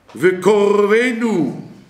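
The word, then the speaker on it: וְקָרְבֵנוּ: Vekorvenu, le kamat c'est un kamat skatan, ici on dit vekorvenu, même les sfarades qui prononcent souvent le kamat a, et bien ils doivent dire o cette fois-ci.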